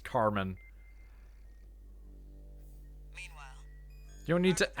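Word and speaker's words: Kármán: off that that's pronounced Carmen.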